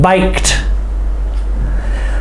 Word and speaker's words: biked: Biked. He will bike to school tomorrow. Okay. Walked. Biked. Both of those ED words have the T sound at the end.